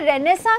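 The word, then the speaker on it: Renaissance: ली felt शब्द देखिए रेनेसा की जो स्पेलिंग है ये रंग है आई कभी भी नहीं आता रहने से इसको बोलेंगे कैसे बोलते हैं तो सम है ए आई का साउंड नहीं आता तो रेनेसां का आंसर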